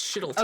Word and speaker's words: Shettleton: It's spelled like shit a ton, but it's Shittleton.